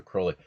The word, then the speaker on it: Crowley: Let's get the pronunciation right now, kids. Cruy. Rhymes with holy, you know. So, holy moly. It's Alistister Crowley.